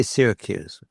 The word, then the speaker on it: Syracuse: And we have Archimedes, the astronomer, uh, from the Greek colony of Sy, we say Syracuse. They pronounced it differently.